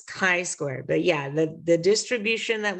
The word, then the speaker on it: chi-square: It looks like chi, but it's a hard C sound, so it's a k sound, and it's chi-square.